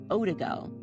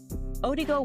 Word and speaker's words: Odigo: There was an instant messaging service that was called Odigo.